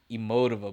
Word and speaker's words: Emotiva: I think that's how you say it. Emotiva. I've heard people say Emotiva, but I like to say Emotiva.